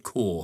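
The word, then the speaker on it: Kaur: I think I pronounced it cow. It's Narinda Core.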